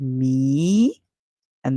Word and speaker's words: mean: The A is silent, it's the same thing in this word me, and then we hear n. So this word is mean, mean.